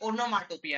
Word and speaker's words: onomatopoeia: देखो इसका प्रोनाउंसिएशन बहुत लोग गड़बड़ करते हैं, ये ओनोमाटोपिया है।